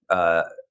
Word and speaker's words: Toutonghi: the way, I mean, the way that we pronounce our name comes in part because, the Egyptian je is a g, and so it's like a harder, different dialect. And so they grew up saying, Tutungi.